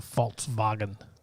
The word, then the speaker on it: Volkswagen: the the v yeah the v is uh pronounced as an f and the w is uh pronounced as a v in germany so it's a false bargain yeah it wasn't just